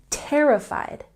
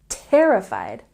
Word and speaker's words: terrified: you can say terrified we have a stress on the first syllable terrified terrified she was very scared